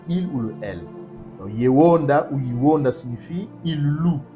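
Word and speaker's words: יהודה: concordance des 03063, et Edom le prononce Yehuda, mais ce n'est pas Yehuda, nos pères le prononçaient Yewonda.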